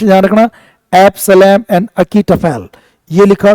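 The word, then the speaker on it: Absalom and Achitophel: English में पढ़ा होगा एब्सलम एन अकीटफेल इसका प्रोनाउंस ध्यान रखना एब्सलम एंड अकीटफेल यह लिखा जो बहुत गजब का था जिसमें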